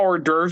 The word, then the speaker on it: hors d'oeuvres: Um, if you look at the way how hors d'oeuvres is spelled, it's spelled really fucked up, but it's pronounced hors d'oeuvres.